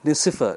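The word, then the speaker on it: Nicéphore: good joseph nissif now the spelling says n-i-c-e-p-h-o-r-e nisi foreign no it's a french name so it becomes niap uh joseph nicifer nessifer niyab so it's good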